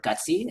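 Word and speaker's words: GUTC: united for trans communities or gutsy is how we pronounce it is an initiative by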